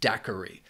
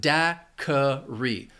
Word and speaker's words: daiquiri: Daiquiri has 3 syllables, and the stress is on that first syllable. Daiquiri. This word can be confusing because that Q-U-I can throw people off. It takes on that K sound. So you have daiquiri. That second syllable also has the schwa.